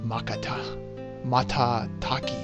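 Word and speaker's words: Matataki: the wood in the Woods located in the makatah Mata Village yes that's how it's pronounced Village is just south of the North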